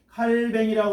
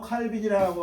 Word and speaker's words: 칼뱅: 시작되어 가지고 그 다음에 캘빈 칼뱅이라고 하기도 하고 칼빈이라고 어제 발음에 따라 좀 그런데 제네바를 중심으로 해가지고